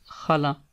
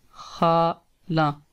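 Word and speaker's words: خالہ: mother family, then it's khala. Khala. And if aunt from your father family, paternal family, then it will be phuphi. Pho phi. Phuphi mean aunt. Khala. First say kha and then say la. Khala.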